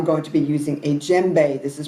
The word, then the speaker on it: djembe: I'm going to be using a djembe. This is pronounced, it's spelled D-J-E-M-B-E. You don't pronounce the D.